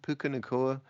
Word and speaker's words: Puka: is no doubt that puka is that how to pronounced it pukaa I believe so yeah there's no doubt